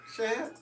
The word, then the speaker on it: Shad: Now I was saying Shade Moss, but I was pronouncing it wrong. What is it? Shad.